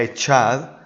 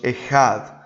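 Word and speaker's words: אחד: Miren ahí la palabra que, si la pronunciamos literalmente como hablamos en nuestro idioma, se pronunciaría echad, pero en hebreo la pronunciación es más o menos ejad, con J.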